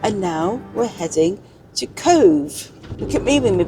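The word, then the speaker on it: Cobh: Had a lovely couple of nights in Dungarvan, and now we're heading to Cove. Look at me with me pronunciations.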